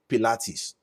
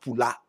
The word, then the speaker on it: Pilates: Rachel, I would understand if they pronounce it as Pilates. I would understand because there is high there. There is L, there is A, there is T, there is ES. But not Paul. Not Pula.